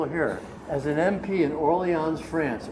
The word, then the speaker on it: Orléans: As an MP in Orléans, France, Orléans is the proper way you pronounce it, I pulled a lieutenant colonel over in the car.